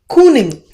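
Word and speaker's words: cyning: King was actually cooning. In the you look at the Y should be pronounced as double O.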